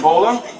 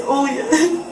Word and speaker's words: Olia: Bola? It's Olia.